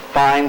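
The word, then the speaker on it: Fein: 000 times per minute it's it's spelled f-e-i-n we refer to it as a fine saw the blades are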